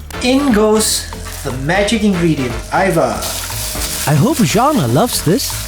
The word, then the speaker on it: Ajvar: And it's pronounced Ajvar? Yes, it's Ajvar. Ajvar.